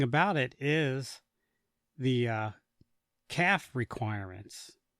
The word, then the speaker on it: CAFE: it is the uh calf requirements. Now, it's spelled cafe. I don't know why they call it calf. Not it's almost like calf with a baby cow.